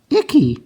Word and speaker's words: icky: all right it goes I I and then C K together just makes the one C Sound and the Y at the end is like a long e it goes e so it's i e i e i e icky icky that means like it's